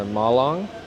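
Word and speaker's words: Malang: We are now in Milong or Malong as they like to pronounce it.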